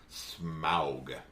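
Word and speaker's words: Smaug: Why do they not just say smog? Cuz smog is smog and it's different. I don't know. I think some people do say it closer to smog, but anytime you're hearing anyone talk about it who's actually involved in production, it's smoo.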